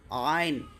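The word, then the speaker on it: عين: আইন গইন আইন আইন না আইন এটাও কিন্তু এখান থেকে গলা থেকে বের করবেন আইন গইন গ গ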